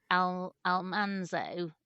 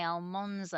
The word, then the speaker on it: Almanzo: And I have to say, I've since discovered that my reading of Almanzo is correct. I was going a lot to of say. Americans say that wrongly. They say Almonzo.